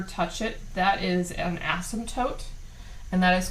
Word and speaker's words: asymptote: asymptotes so it's essentially the word um has a silent p oh i slightly say it as some totes but it's basically like a silent p asymptote and uh the dictionary or